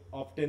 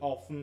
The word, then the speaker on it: often: কি বলে, যে তুমি অফটেন দুটা দিয়েছো নাকি অফন একটা করেছো? অফন, তাই তো? টি দেখি। হ্যাঁ, দেখো এটা কিন্তু দুটা উচ্চারণ হয়, হ্যাঁ, অফটেনও হয় আবার অফন হয়, টিটা বাদ যায়।